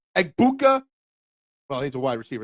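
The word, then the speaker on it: Egbuka: Ubukua. Eggbuka. Eggbuka.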